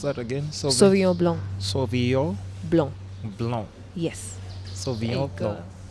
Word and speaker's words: Sauvignon Blanc: do you pronounce that again? Sauvignon Blanc.